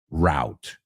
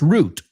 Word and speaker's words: route: that word is pronounced route Okay, we took a different route to work today. Now, in British English, it's root all the time.